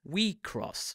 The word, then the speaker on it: WIXOSS: the popular card game we cross pronounced we cross to try and get